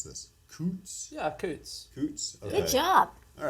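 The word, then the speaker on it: Coutts: had uh bank accounts at I'm probably gonna mispronounce this Coots yeah Coots Coots good job all right look at this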